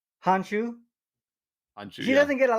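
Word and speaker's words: Han Xu: How do you pronounce her name? Hanshu.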